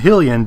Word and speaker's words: Hylian: Hylia and Hylian do not. So by default, the vowels would be pronounced differently.